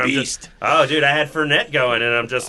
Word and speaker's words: Fournette: Actually, Brad, your pronunciation of the Jacksonville running back leads me to think of a great new cocktail, the Leonard Fernet. Nice. Yeah, that'd be awesome. I think it's Fournette. Fournette.